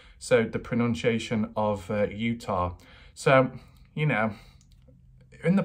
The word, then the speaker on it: Utah: other videos recently pronunciation and it is Utah like Utah without the r on the end so you've got for